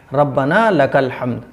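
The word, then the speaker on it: رَبَّنَا لَكَ الْحَمْدُ: इस तरीके से नहीं पढ़ना है, साफ़ पढ़ना है, रब्बना लकल हम्द, रब्बना लकल हम्द। ये है सही प्रोनाउंस, ठीक है। इसकी प्रोनाउंसिएशन इस तरीके से होगी।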